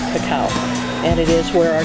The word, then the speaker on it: cacao: Um, it was mispronounced as cocoa, but it's actually cacao.